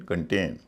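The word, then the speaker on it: contain: कंप्लेन शिकायत करना verb है कंप्लेन regain कंटेन सी ओ एन टी आई एन कंटेन करेल सी यू आर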